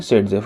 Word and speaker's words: Saytzeff: हालांकि नाम में देखिए थोड़ा सा स्पेलिंग का चेंज है। यह बेसिकली एक रशियन साइंटिस्ट थे जिनके नाम का प्रोनंसिएशन सेडजेफ बनता है।